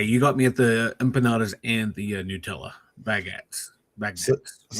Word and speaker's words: empanadas: Um, how do how do you pronounce these? Empandas. Empanandas. Oh, empanadas.